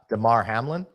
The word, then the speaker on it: Damar Hamlin: it up yeah hold on one second uh Damar Hamlin yeah that's correct and last night I was